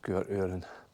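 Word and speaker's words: Sgùrr Fhuaráin: I know it's spelled with an F and an H, but apparently it's pronounced Sgwr Uren.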